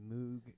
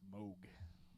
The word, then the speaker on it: Moog: Emerson's flamboyant use of the Hammond organ and Moog synthesizer and piano. That's Moog. Moog. Moog. Moog. M-O-O-G. It's spelled Moog. But it's pronounced Moog. Moog.